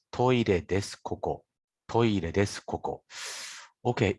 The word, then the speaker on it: です: Des. Des. Someone tried to say desu, but actually des sounds more natural.